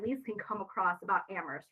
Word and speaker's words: Amherst: can come across about Amherst right because only the H is silent in Amherst so that is something